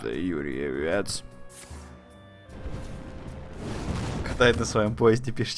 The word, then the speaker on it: Юрьевец: славный город Юн Юрьевец Видимо да читается правильно славный город юрие вец катает на своём поезде